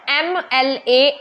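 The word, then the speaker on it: MLA: देखें ही इज एन एम एल ए एम प ठीक है तो कैसी साउंड आ रही है एम ए की साउंड आ रही है ना बोलते हुए पहले तो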